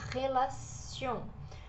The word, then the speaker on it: relation: The Run for Melo esse te aqui de relación ele tem o som de c na verdade a gente fala relacion con relación a família